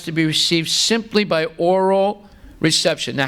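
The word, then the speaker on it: aural: There's a difference between O-R-A-L and A-U-R-A-L. Both of them are pronounced oral. You can't see any difference in the pronunciation. The one is not oral, and the other is oral. No, they're both pronounced oral, right?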